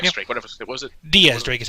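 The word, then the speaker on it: Diez: It's just like he's listed as X Drake, but then I guess the Kana spelling pronunciation was supposed to be Diaz, like the Spanish number for 10.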